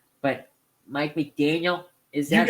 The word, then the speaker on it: McDaniel: I'm going to say it wrong, but Mike McDaniel, is that right?